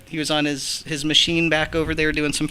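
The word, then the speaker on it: Maschine: um on my chime drum and that's that's machine m a s c h i n e ooh fancy that's how you spell it it it's a pretty fancy little thing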